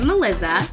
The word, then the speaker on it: Melizza: Well, hi, I'm Melizza. It's spelled just like Melissa, but with 2 Z's and obviously the Z sound.